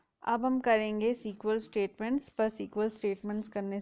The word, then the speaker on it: SQL: जैसा मैंने आपको बताया, इसको है, ये पढ़ने में SQL है, पर इसको प्रोनाउंस हम सीक्वल से करते हैं, ठीक है।